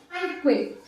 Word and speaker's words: tranquil: So to replace very quiet, that is tranquil. That is tranquil. The pronunciation is, that is not tranquil. We have to pronounce as tranquil. Tranquil. So only two syllables.